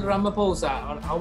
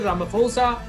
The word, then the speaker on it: Ramaphosa: The correct answer is Cyril Ramaphosa. What I do is to remember this name, I sort of, it rhymes with Samaposha, right?